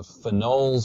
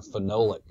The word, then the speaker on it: phenol: next category are the phenols or phenolic compounds and so this is a diagram over here which is showing you the chemical structure of phenol or phenol phenol different pronunciations this is an organic